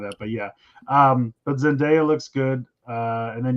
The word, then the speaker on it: Zendaya: always say it wrong I always says the other day I think it's Zendaya yeah Zendaya okay uh